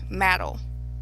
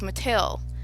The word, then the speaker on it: Mattel: about Barbie dolls and she kept saying Mattal Matt and it took me a while to realize what she meant to say was Mattel the company that creates Barbie because that issue with